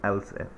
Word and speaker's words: elif: We write elif, but we pronounce it else if.